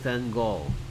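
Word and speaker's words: Van Gogh: 빈센트 밴 고. 빈센트 밴 고. 우리는 뭐 고흐 하는데 실제 발음은 고로 들립니다.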